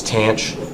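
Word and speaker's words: tanh: Hyperbolic tangent rhymes with Blanche. So it's tanch. You say either way, tanch or hyperbolic tangent.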